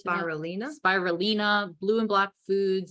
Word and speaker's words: spirulina: Spirulina.